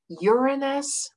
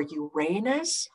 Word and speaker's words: Uranus: And then this one, it can be pronounced two ways, Uranus or Uranus, and then Neptune.